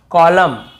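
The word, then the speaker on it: column: जैसे autumn कॉलम डैम और हाईम तो यहां पे हमें ऐसे ऑटम कॉलम डैमन ऐसे हाईमन ऐसे नहीं पढ़ना है।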